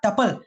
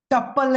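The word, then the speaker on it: tuple: चिल्ला चिल्ला के बोला था ट्यूपल, टुप्पिल, टुपाल, टुपोल, कुछ नहीं, सिर्फ टपल। यही प्रोनाउंसिएशन है।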